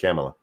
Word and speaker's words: Kamala: how it's pronounced yes that is how it's pronounced camila that's how she says it so i apologize